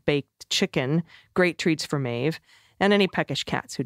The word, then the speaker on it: Maeve: FYI, Maeve rhymes with Dave.